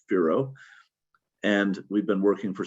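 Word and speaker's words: FIRO: a project called forecast informed reservoir operations f-i-r-o pronounced fero and we've been working for seven years now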